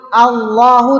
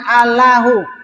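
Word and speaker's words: الله: Makanya melafazkan Allah itu harus tebal dalam rangka ya mengagungkan. Jadi pengucapan itu juga menggambarkan pengagungan gitu. Coba beda enggak kalau kita sebut Allahu dengan alahu ya ala ya ala dengan ya Allah ya Allah sama enggak ya enggak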